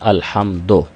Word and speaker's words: الحمد: پڑھ دیتے ہیں، الحمدو۔ بعض احباب اس کو دو پڑھتے ہیں، الحمدو۔ تو دو یہ مجہول طریقہ ہے، دال پیش دو ہوتا ہے۔ الحمد للہ، للہ، لام